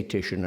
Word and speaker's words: Titian: rather than to say or indeed to come up with some recall Titian which is not that we are supposed to say these things as would be wished by the natives of the land except that both in cities and in names we don't do it we say Titian and I think we're right to do so because he has